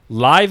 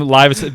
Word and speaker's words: Live: I mean, Live at 7-Eleven was always funny to me because it was actually meant to be pronounced Live at 7-Eleven. Really? Yeah. No shit. But it became Live because everybody kept saying that.